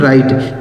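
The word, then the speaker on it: write: तो इसे पढ़ा जाता है दोस्तों राइट। यहां जो डब्ल्यू लिखा गया है ना, यह साइलेंट है। मतलब इसे नहीं पढ़ेंगे।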